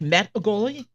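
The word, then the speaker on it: Mehdigholi: None of my daughter's teachers could pronounce that name. I finally said say met a goalie. So you like met a goalie. Even though that's not quite how you pronounce it, but that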